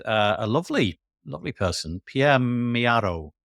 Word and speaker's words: Pierre Mio: a lovely lovely person Pierre Mio is how you pronounce that although it looks like Pierre Mario um oroni um and